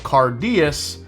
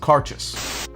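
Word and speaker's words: Cairdeas: scotch whiskey even though when you see this word it looks like cardus it's actually pronounced cartus done and done why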